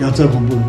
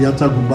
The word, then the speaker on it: याचा गुम्बू: उसी प्रकार से जैसे आप यहाँ पे बहुत एक प्रचलित एक वो है आप याचा गुम्बू, या लोग गलत उच्चारण करते हैं याचा गुम्बा क्या कहते हैं।